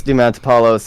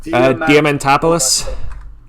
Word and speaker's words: Diamantopoulos: And of course, because Chris Diamantopoulos is already a regular cast member on the show, he did that one like throwaway line for Watermelon Mickey.